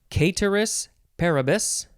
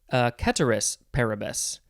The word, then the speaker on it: ceteris paribus: Okay, next is, you can pronounce this a couple of ways, ceteris paribus, or ceteris paribus, I think, or you could say ceteris paribus.